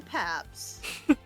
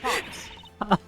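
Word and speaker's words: Paups: And her name is Lauren Paps. Sorry, Pops.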